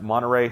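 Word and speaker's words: Monterrey: to do this um I think it's pronounced Monteray hopefully I got that right that might be the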